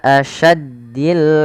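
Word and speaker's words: أَشَدّ: Ila asyaddil azab. Pada lafal sya hati-hati jangan terganti dengan huruf sin.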